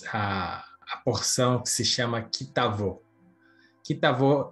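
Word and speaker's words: כִּי תָבוֹא: palavra ali naquela frase, só pelo fato de ter colocado o tav na frente da palavra bo, então é pronunciado como um V, então ali virou um kitavô, quer dizer quando entrar.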